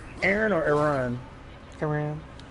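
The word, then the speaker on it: Aran: Aram. Yeah, Samus Aram. Yeah, a lot of people pronounce the same as Aaron.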